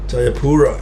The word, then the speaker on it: Jayapura: Jayapura. Is that how you pronounce it? Jayapura.